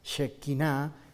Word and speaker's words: Shekinah: Van a ver ustedes en el documento una palabrita que se pronuncia Shekinah, que es la gloria de Dios cuando se manifiesta Dios, una palabra en hebreo que traduce la gloria de Dios, la Shekinah de Dios, la Shekinah de Yahvé, cuando Dios